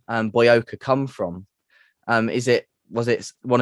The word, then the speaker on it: BOYOCA: So BOYOCA. Although it gets mispronounced quite a lot, but it gets Booyaka a lot, doesn't it?